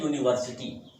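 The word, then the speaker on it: university: से प्रारंभ हुई हो, लेकिन प्रोनाउंसिएशन करने पर उसका उच्चारण यू, वाई यू यानी कि यू निकल रहा हो, तो हम उस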